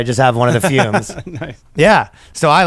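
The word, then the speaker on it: FÜM: of ours from Canada, Fume. You've heard about them. We've been telling you about them. Fume, it's pronounced fume, but it's got 2 dots over the U, which is very cool.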